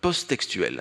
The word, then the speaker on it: posttextuelle: la méthode posttextuelle hein posttextuelle he c'était ça se prononce comme ça avec un seul un seul t un post textuel et